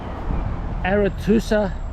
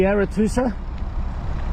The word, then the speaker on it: Arethusa: Arethusa of Welton Heath. Did I say it right? Sorry, no. The Arethusa?